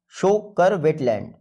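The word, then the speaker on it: Tso Kar: देखिए T silent रहता है।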